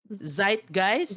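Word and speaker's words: zeitgeist: is that Z guys zite guys german word it feels like a german word wel Look into that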